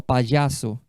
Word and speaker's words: payaso: Quando elas viam o palhaço, olha como é que é palhaço em espanhol, payaso. Payaso. Olha a pronúncia, payaso.